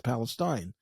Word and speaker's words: Palestine: He says Palestine because it's spelled Palestine and it should be pronounced Palestine. And I don't know why they changed it to Palestine.